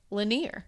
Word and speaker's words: Lanier: from someone who has an experience in Lake Lanier.